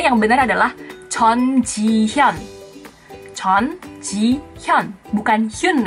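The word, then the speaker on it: 전지현: Namanya kan tulisannya J-U-N, J-I-H-Y-U-N. Banyak yang pasti bacanya Jun Ji Hyun, Jun Ji Hyun. Di Korea juga nggak ada marga yang namanya Jun. Yang benar bacanya adalah Chon. Chon.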